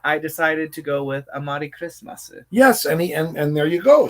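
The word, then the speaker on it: クリスマス: regular Amari, it's Amari Kurismasu. Kurismasu. The Japanese way to pronounce Christmas.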